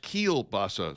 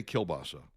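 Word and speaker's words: kielbasa: Uh, pronounced keilbasa, says Chris Watt. Yeah, not not in my household. Not polls say kilbasa and uh I've been eating kilbasa since I was a child. And that's the way we say it in the Midwest.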